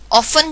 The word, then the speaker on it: often: कह सकते हैं कि ऑफन जो है, इसके स्पेलिंग कुछ और है, OFTEN हम लिखते हैं, लेकिन उसमें बताया ये जाता है कि हमने टी को साइलेंट कर देना है.